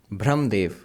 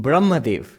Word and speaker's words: Brahmadev: Brahmdev. Literally it means the Lord of Error. Or the God of Error, Brahmdev. I said, you mean Brahmadev. That's what it actually means. It's a pronunciation error.